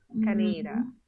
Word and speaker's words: Canada: It's a pronunciation of Canada that you hear in Grenada a lot. Canada. So they give a long A pronunciation on the NA part.